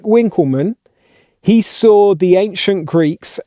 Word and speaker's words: Winckelmann: of beauty and apologies i was probably supposed to say winkelmann but being married to an american i've got very used to pronouncing w's as w's when i say these names how they do in america that's my excuse now notice